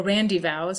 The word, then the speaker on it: rendezvous: at this time for their rendezvous, or randyvows as it was generally pronounced, was an inn of